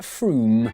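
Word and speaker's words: Frome: from f-r-o-m-e it should be blitheringly obvious it's pronounced froome excuse me could you mispronounce froome for me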